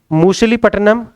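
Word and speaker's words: Masulipatnam: लिखेंगे तीसरा पॉइंट 1669 में मूसलीपट्टनम या मसूलीपट्टनम भी उसे दोनों तरीका से प्रोनाउंस करते हैं, मसूलीपट्टनम में एक फैक्ट्री स्थापित की गई थी।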